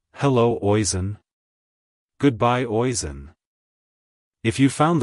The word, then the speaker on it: Oisin: as oon oon oon to pronounce it correctly emphasize the ash sound and use a soft in at the end like Hello oen Goodbye oen if you